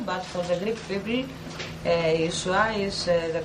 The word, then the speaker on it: Yeshua: nome, de maneira alguma, se pronuncia do jeito Jesus ou Jesus, mas sim Yeshua.